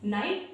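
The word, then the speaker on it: knight: Knife यानी कि चाकू, नी यानी कि हमारे घुटने, नॉक यानी कि खटखटाना, नाइट यानी कि योद्धा। इन सारे वर्ड्स में जो गाइस के है वो हमारा साइलेंट है।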